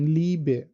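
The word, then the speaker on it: Liebe: আর ই এ এটার sound লাইক double ইর মতো, যেমন ই লাইক ইলিশ, অথবা ইয়ে অনেক ক্ষেত্রে আবার এটা ইয়ে উচ্চারণ হয়ে যায়, যেমন লিবে, লিবে, লিবে ভাপিয়ার, এখানে কিন্তু ইটা চলে আসতেছে লিবে, লিবে।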